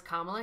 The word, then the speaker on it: Kamala: let's not repeat that it's kamla Harris that's how you say it vice president Harris